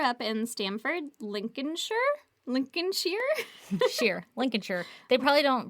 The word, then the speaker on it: Lincolnshire: They probably don't pronounce the L or the Lincolnshire. Lincolnshire, England. Lincolnshire. Lincolnshire, England. God damn Lincolnshire, it. England. Every time. Listen. We're never going to get it right. She said everything with Shire is pronounced sheer, Sheer.